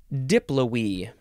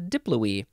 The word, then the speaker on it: diploe: the next word Mimi diploe this a fun word diploe it just looks like it's pronounced Diplo Diplo it's it's uh diploe d-i-p-l-o-e noun from 1597.